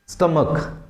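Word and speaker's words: stomach: हाँ जी, स्टमक, क्या करेंगे, देखिए लास्ट में CH है, यदि अपने पुराने रूल को याद है तो उसके हिसाब से ES की तरफ जाएंगे, लेकिन इसका प्रोनाउंसिएशन क्या हो रहा है, क की तरह हो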